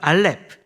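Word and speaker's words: אלף: 우리가 약속을 하겠습니다 그래서 알렙 이거는 이제 어 음가는 이응이라고 무음입니다 아 뭐 가나다라 할 때 어 아는 이응은 발음이 없잖아요 그래서 묵음으로 보시면 되고요 그리고 이것은 소머리 모양이에요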